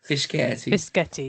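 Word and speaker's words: Fischetti: Fisceti.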